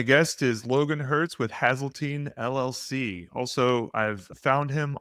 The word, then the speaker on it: Hazeltine: Also, where I have found Logan was on YouTube, and the YouTube channel is Hazelton LLC. Is it Hazeltine? It's technically pronounced Hazeltine, but I never correct Hazeltine.